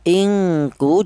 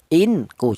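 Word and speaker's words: ingkuntum: Inku jangan, tapi ingku seperti itu. Ada dengunya 2 harokat, ingku.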